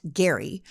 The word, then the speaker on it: Gerry: from Massachusetts governor Elbridge Gary spelled Jerry but pronounced Gary whose administration passed a law in 1812 to